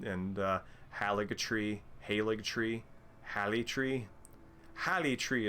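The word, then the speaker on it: Haligtree: haligatri haleg tree halitree halitri is how i would pronounce that because i would see the g as a yah sound oh nifty uh is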